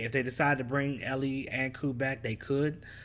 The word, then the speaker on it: Eli: tackle um well it's it's spelled eli but i heard that they that he pronounces it um ellie ellie anku ali aku